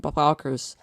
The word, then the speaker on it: Bobokkers: Bobokkers. It's meant to be pronounced like a stupid Dutch word.